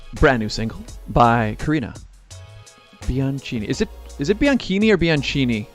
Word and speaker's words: Bianchini: So like bikini, but like Bianchini. So it is Bianchini.